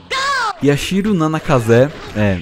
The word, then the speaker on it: Yashiro Nanakaze: Yashiro Nanakaze, é exatamente assim que eu pronuncio o nome dele, é um guitarrista e compositor japonês de 23 anos, em 1,90m de altura.